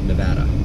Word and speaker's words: Nevada: I was told it's pronounced like Nebraska, Nevada.